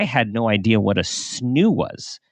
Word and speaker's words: Snoo: parenting perspective, I had no idea what a snoo was. Right. Like, is that how you pronounce it?